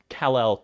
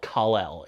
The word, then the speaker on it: Kal-El: thinking about I reckon how many times have I pronounced Kalel Kalel in this video who am I Teran